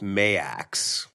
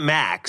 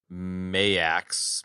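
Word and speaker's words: M*A*S*H: They're like sort of loosely aligned with M.A.S.H. M.A.S.H. I love that name, dude. Not Max. It's Max with an extra A. I pronounce it M.A.S.H. I know.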